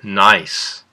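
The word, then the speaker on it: gneiss: looking at is called nice when you look at nice is there a silent letter that's right the g is silent so when we're looking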